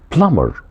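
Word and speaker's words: plumber: كاتش فيش بيصطاد سمك بلامر وخد بالك من حرف البي ما بنطقه اسمه بلامر بلامر يعني السباك هو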